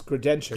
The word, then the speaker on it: Grodenchik: It's Grodenchik.